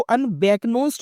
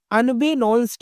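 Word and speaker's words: unbeknownst: इसको अनबैकनोस्ड नहीं कहेंगे, यहाँ के होल्ड रहेगा, के को होल्ड करना पड़ेगा यानी साइलेंट। अनबेनोन्स्ड पढ़ेंगे इसको, इसका मतलब है जानकारी के बगैर।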